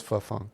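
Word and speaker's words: Phuong: I'm not even gonna begin to try to to remember how to pronounce the name. Fantastic. It was Funk.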